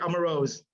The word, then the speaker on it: Amarose: And how do you pronounce it? Amarose? That's correct. Amarose.